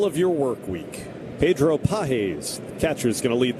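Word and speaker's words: Pagés: we were calling him Pages. John Rooney, our pregame guest in the On Deck Show today, corrected us. He is now going by Pages. Spelled like the American word pages.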